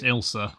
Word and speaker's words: Ailsa: It's pronounced Ilsa.